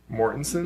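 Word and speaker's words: Mortensen: starring Mortenson is that how you say it Mortenson yeah Mortenson I think is this a joke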